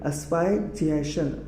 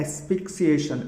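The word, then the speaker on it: asphyxiation: Then next word है अस्पायक्सिएशन। अस्पायक्सिएशन, अस्पायक्सिएशन, है ना। इसका एक्चुअल प्रोनाउंसिएशन क्या है, एस्पिक्सिएशन, एस्पिक्सिएशन, ठीक है, ASPHYXITION, एस्पिक्सिएशन, यानी क्या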